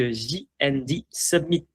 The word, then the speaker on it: J&D Summit: Je suis aujourd'hui avec JND Submit prononcé à l'anglaise.